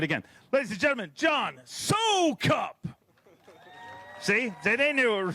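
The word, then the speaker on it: Soukup: let's do it again ladies and gentlemen John so cup see they knew it was wrong 1580 your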